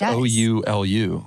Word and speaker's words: Oulu: It's Oulu.